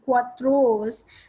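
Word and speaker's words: quatorze: q u a t o r z e quatros 15 is written as q u i n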